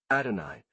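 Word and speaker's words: Adonai: composed of six letters Hebrew AI which we pronounce adoni this name means Lord dot Hebrew AI pronounced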